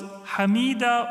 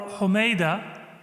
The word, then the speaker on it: Hamida: The mother of Imam Musa Kadhim, she was Hamida or Humayda. Both pronunciations are narrated by scholars.